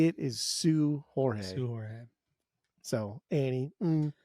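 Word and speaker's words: Seu Jorge: I don't think the SEU is pronounced Sway. I think that's actually pronounced Sue.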